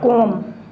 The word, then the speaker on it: comb: B is silent. ठीक है. Comb.